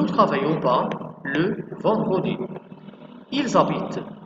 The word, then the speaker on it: habitent: برضه هنا الفيرب بدأ ب h muet يعني h زي الفويل بالظبط فهنحط قبلها n apostrophe. يبقى ils habitent à Paris هتبقى ils n'habitent pas à Paris.